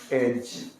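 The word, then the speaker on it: edge: खतरनाक है यहां देखिए ई डी जीई क्या पढ़ेंगे इसको अगर डी को उच्चारण देंगे तो क्या साउंड निकाल के दे देगा आपको फस जाइएगा व ीजी जब भी एक साथ आएगा तो डी को हम लोग खामोश कर देंगे और दोनों साउंड क्या निकला ज का एज क्या कहलाता है ये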